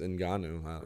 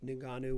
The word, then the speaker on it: Ngannou: I say Ngannou. Is it Ngannou or Ngannou? I believe it's Ngannou. Okay. I've been saying it wrong the entire time.